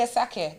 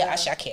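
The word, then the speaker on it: Asake: Hey Alexa, play a sake. That's how you have to say it. You can't say ashake.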